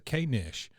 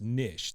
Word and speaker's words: knish: And so Luann asks, "What's a K-nish?" And Peggy, of course, being well-informed and a worldly lady, says, honey, it's pronounced niche. The K is silent, and I have no idea.